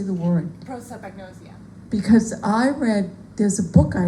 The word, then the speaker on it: prosopagnosia: Prosopagnosia.